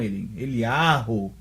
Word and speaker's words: Eliyahu: Aí, daí o nome Yahu, que hoje até os judeus falam Eliyahu, né?